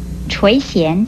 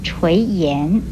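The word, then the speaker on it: 垂涎: 最后要提出来的是，垂涎这个词有人念成垂涎，这是不对的，请您要特别的注意。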